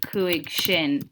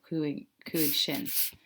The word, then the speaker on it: chuamar: It should be, it's like chuaig shin, but we don't spell it that way. We actually spell it chuamar. Okay, but that's what it's actually standing for, chuaig shin.